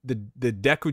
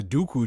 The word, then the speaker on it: Deku: He pronounced the Deku tree as the Dooku tree.